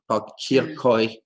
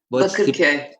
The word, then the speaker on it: Bakırköy: Aslı, how do you pronounce this? Bakırköy. Bakırköy.